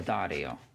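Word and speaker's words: D'Addario: there is I believe so the Dario I believe that's how you say it in Italian we need to put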